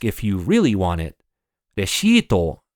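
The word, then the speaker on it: レシート: Reshito is how you say receipt in Japanese.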